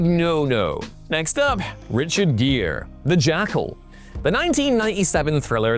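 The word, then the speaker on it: Gere: Gear that also rhymes with year has largely stayed away from action since then.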